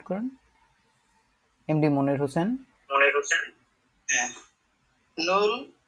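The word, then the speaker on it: null: নুল কি বলে?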